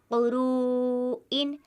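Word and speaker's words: قُرُوءٍ: کر پڑھا جاتا ہے، اس طرح قروءن قروءن، اور ہجے ہم اس کے اس طرح کرتے ہیں، قاف پیش کو، را واو مد پیش رو، قرو، حمزہ دو زیر ان، قروءن قروءن۔ اسی طرح یہاں پر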